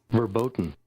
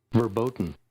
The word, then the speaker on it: verboten: this are verboten today did i pronounce that right uh verboten i did verboten there we go verboten i pulled it